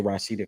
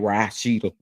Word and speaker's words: Rashida: You got Rashida and I say Rashida because that's how Scrap say her name, Rashida.